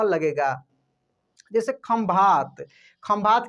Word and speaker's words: खंभात: है कि उसमें क्या है, उसमें म का उच्चारण हो रहा है, यानी म लगेगा। जैसे खंभात, खंभात की खाड़ी आप सुने होंगे, तो खंभात आप ऐसे भी लिख सकते हैं, खंभात, ठीक है।